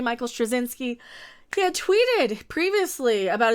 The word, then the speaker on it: Straczynski: jms as we call him if you can't pronounce his name j michael strozinski he had tweeted previously about his interest in